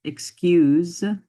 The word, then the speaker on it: excuse: the vowels in it excuse has a z sound in it not an S busy very similar nickel